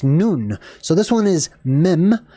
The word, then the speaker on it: nun: mysterious uh word right none or it's actually noon because of the pronunciation of the vov originally was ooh right so noon like High Noon right or like the nun like a Catholic nun same deal uh this